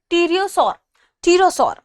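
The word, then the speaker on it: pterosaur: दूसरा हम शब्द देखा हमने, या आप कह सकते हैं प्रजाति, वो है टीरोसौर, ठीक है, इसमें पी साइलेंट है।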